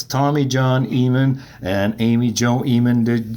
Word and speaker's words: Ehman: that don't actually know how to pronounce Ehman, and they'll go Eamon. Right.